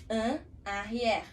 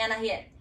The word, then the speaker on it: en arrière: En arrière. En arrière. En arrière. Essa seria a pronúncia correta, sim? Que a gente acaba transformando aqui no Brasil em en arrière. A gente junta tudo.